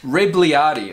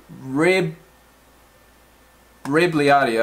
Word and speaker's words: Rebagliati: already saved our replica Wrigley Artie okay rib rib Lyari okay so the G is silent Ripley Rd got his own pop